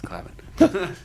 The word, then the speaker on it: Clavin: It's Clavin. He hates when people mispronounce his last name.